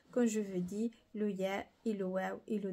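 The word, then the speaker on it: ياء: Alors le W, quand vous voyez W, c'est la prononciation de wow. Et le dernier alphabet qui est le ya.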